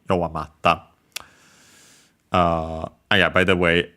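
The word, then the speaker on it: 弱まった: Originally, we changed the U into I, yowamari, ta. But then the I fell, yowamarta, difficult to pronounce, so simply became double consonant, doubling of the following consonant, yowamatta.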